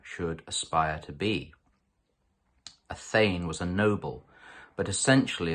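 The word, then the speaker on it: thegn: That marvellous Anglo-Saxon word, which might be unfamiliar to some of you, a thane, T-H-E-G-N, pronounced thane, is not only a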